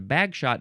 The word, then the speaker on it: Bagshot: in England, and there's Bagshot Park, which I assume, yes, it's a historical landmark in Bagshot, England. Now, do you pronounce it Bagshot? Or do you pronounce it Bags Hot? Bags Hot. Interesting.